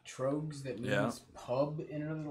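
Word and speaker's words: Tröegs: do we all pronounce it correctly? Do they pronounce it Troegs or anything like that? No, or it's is just, it it's, Trogs? it's just Trogs.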